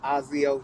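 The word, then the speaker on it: Aucio: thank you good morning america my name is ozio first name you spell it a-u-c-i-o last name uh my company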